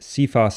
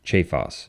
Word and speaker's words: Cephas: but rather the name Chavez that name is pronounced Cephas in English but in ecclesiastical latin it is pronounced che Foss even though it's spelled the same way and